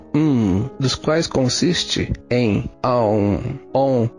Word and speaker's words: Om: vem imediatamente é o Om. Na verdade, a combinação fonética de Om não é de duas sílabas, mas de três sílabas, que é A, U, M. Então a pronúncia correta seria Aum.